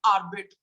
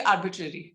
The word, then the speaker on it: arbitrary: students from engineering colleges have this habit of saying arbit but are with decision it's actually arbitrary okay then Arsenal yes